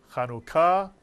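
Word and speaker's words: חנוכה: And so in this word, Chanukah, there you have a 2-syllable word, the U, the Shuruk, and the Kubutz under the Kaf, and the first syllable is Chanu, and the second syllable is Ka.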